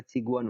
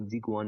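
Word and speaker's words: 직원: यहाँ चाहिँ जिगवन भएको रहेछ चाहिँ, तर चिगवन हुन्छ है। जहिले पनि अगाडि आयो भने छ उच्चारण गर्छौँ, त्यो चाहिँ हाम्रो रुलमै छ है, त्यसैले यो चिगवन हो, जिगवन होइन।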